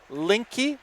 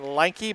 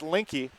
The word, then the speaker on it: Linke: I've been pronouncing it Linke, but it's Link, like the missing link. Then add the E, so it's Linke from Stillwater.